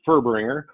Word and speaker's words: Furbringer: hey thanks jareth he never tries to pronounce my last name it's always a fun one to get it's furbringer uh i've been in